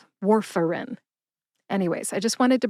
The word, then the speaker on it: Warfarin: It's more like war like World War II, fur like the fur on a dog, and in as in the pills go in the bottle, not war like